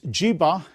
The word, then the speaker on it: jiba: the half chord and from Jiva the word was taken up by the Islamic astronomers and they pronounced it as jiba and they wrote it